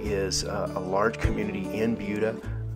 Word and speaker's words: Buda: hey everyone Justin Coffield here I'm in bua Texas I know it's spelled Buddha but it is pronounced bua in the sunfield community uh this is a